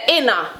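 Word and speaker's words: inna: We say inner, we turn it in a 1 word.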